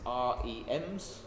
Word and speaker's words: rem: As a relative, percent is a relative unit, but as REMs, yeah. How do you pronounce that? Rem, yeah, as you said, rem, yeah.